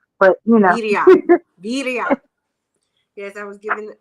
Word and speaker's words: birria: made me do a full pronunciation little lesson on saying that because I've been saying it wrong. It's Berea and it's gonna be Berea, but you know. Birria.